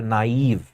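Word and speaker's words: naive: इसको थोड़ा प्रोनाउंस ठीक से करें बिकॉज ये फ्रेंच वर्ड है नाइव and this is the word गलेबल.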